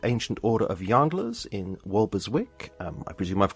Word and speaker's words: Walberswick: president of the Ancient Order of yanders in walberswick um I presume I've pronounced that correctly yes yes suffk where he